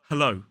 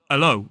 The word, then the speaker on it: hello: than hello hello so in a modern British RP accent it's really important to pronounce that h Hello not Alo or Alo so make